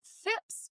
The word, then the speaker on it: Phipps: And today I have with me Fips.